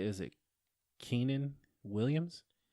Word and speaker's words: Quinnen: Is it Keenan Williams? Quinnen, I think.